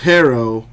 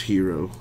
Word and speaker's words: Herro: well it's a postive it's pronounced herro but even Tyler himself just he just says hero Tyler hero definitely sounds